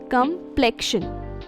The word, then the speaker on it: complexion: Yes, the stress is on the second syllable and the O in the first is pronounced like a A in the China. Isn't English fun like that? To break it down, come isn't pronounced like complain or complete. Instead, it's softer. So repeat after me.